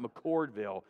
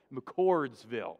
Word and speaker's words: McCordsville: lawrence and indianapolis and mccordsville i was told i said it wrong it's not mccordville mccordsville okay and then fishers and carmel